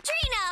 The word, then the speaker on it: Trina: it for me Arena Trina rhymes with Nina come on Trina you